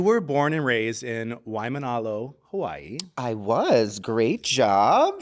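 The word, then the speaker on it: Waimānalo: did it right yeah you just got to pronounce every single vowel even if there's three A's in a row you got to pronounce you got to sound them all out um I I want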